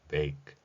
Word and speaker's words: bake: bake, 굽다라는 단어에 해당합니다. B에 해당하는 소리를 비읍으로 표현했습니다. 물론 영어의 비읍은 우리말에 비해서 목젖이 울린다는 특성을 갖기 때문에 유성음으로 표현합니다.